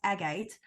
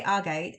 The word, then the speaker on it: agate: a moss Agate and I know what's pronounced agate but I say our gate and I'm not going